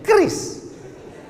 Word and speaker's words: QRIS: Cara bacanya gimana sebetulnya? Kris. Q-nya quick. Quick artinya cepat. R-nya response. Kris, quick response code.